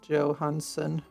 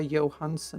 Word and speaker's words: Johansson: I thought people didn't like Scarlett Johansson, or Johansson, how it's pronounced.